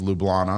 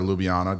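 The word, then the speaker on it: Ljubljana: up playing in Slovenia the capital is lublana or lubiana depending on how you you know how you say it um and that was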